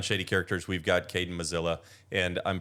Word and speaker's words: Muzilla: slogan was, "Vote for Caden Musella like Godzilla." Oh, yeah. kind of how I tell people how to pronounce my last name. Musella? Yeah, Musella.